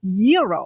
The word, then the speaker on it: gyro: I order the Gyro Supreme. Suddenly, the lady behind me chimes in. It's pronounced gyro. Then the fella behind her says, "It's a gyro."